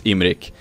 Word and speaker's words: Imrik: i said because that's the swedish way to pronounce it but it's imric so with an english eye instead of two